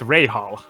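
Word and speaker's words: Rahal: to not pronounce as i pronounced rahul wrong it's ray hall thank you very much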